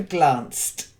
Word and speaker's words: glanced: hanging on really tight then silent E for glanced the last that's it